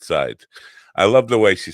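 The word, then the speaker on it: Seids: S E I D S is her name. I think she pronounces it sides.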